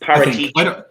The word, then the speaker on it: Paratici: It's Paratici. Just run Parrot. Yeah, just run Parrot and Ticci. Just pretend Parrot and then you're itchy. So Paratici.